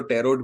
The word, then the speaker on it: tarot: टेरो की बात करें तो टेरोट भी कहते हैं, जो भी प्रोनाउंसिएशन है, क्योंकि TAROT, टी साइलेंट करो या टी को बोलो, ये सब आप पे निर्भर करता है।